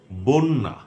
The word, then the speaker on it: বন্যা: আপনারা খেয়াল করুন যে শুরুর অটি সব ক্ষেত্রে ও হয়ে যাচ্ছে। শুরুতে অ আছে, সেটা স্বতন্ত্র অ কিংবা ব্যঞ্জনে যুক্ত অ। তো আরও বলছি, বন্যা, অধ্যক্ষ, অভ্যাগত, কথ্য, পথ্য,